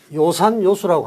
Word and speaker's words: 요산요수: 요산요수라고 합니다. 이게 좋아하다 한다 뜻일 때는 요로 우리가 발음하죠.